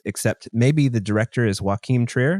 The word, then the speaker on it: Joachim: I am not even going to attempt to pronounce these names, except maybe the director is Joachim Trier. Does that sound right? It's Joachim. Well, because it's Norwegian, so of course.